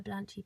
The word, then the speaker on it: Blanche: We used to call her Blanchy, but of course it was Blanche, so if you pronounce it properly, it's Blanche. I thought of the names.